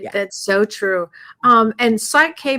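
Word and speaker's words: Psych-K: And Psych K, by the way, is spelled P-S-Y-C-H, like psych, like psychologist, psych, P-S-Y-C-H dash K, like K for Kellee.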